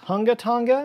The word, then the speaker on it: Hunga Tonga: was it just not large enough actually it's pronounced hunga tonga which is maybe the most fun to pronounce name i've ever come across in my life so i'm never going to stop saying it actually it's hungatanga hunga bye right hungatanga right but but there's